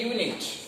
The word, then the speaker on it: unit: Here you can a unit, not an unit. Because of U is vowel, no doubt in that, but pronunciation, it is not pronounced as vowel sound. It is a pronounced as consonant sound, so that's why it